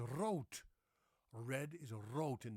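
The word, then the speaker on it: rood: It's not rude. No, it's ro.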